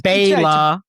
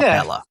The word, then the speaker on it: Bela: No, it's Bela. Not Bella.